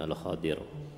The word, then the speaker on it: Al-Khadir: Di bahasa Arab dibacanya dengan Al-Khadir.